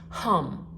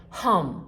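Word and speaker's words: हं: h-a-m but it's pronounced hum and when you say it you kind of aspirate that H like emphasize it a little bit hum like humming so let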